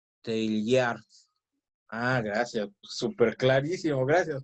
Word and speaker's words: Teilhard: Y estoy leyendo el mensaje de Pamela en donde dice que se pronuncia Teilhard.